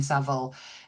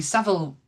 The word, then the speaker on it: Savile: whole episode on Jimmy Savile and they kept calling him Jimmy Savil and it was so annoying.